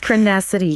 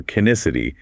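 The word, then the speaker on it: Crenessity: Yes, Crinacety. On the earnings call, I noticed the executive sometimes pronounced it Crinacety or Kinacety, but however you phonetically sound it out, this new drug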